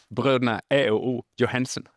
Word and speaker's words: Brødrene A&O Johansen: uttala utan jag överlåter det till dig att uttala bröderna E o Johansen.